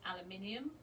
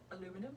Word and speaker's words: aluminium: They're made of anodized aluminium. Or is that aluminum? No, it's not. They call it aluminium. You can call it aluminum if you like, but it's spelled differently as well, isn't it?